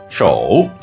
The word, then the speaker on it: 守: In Mandarin, it's read 手, and in Japanese, 手.